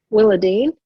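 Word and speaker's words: Willadeene: Willadine, is that how you say her name? Willadine? Willadine.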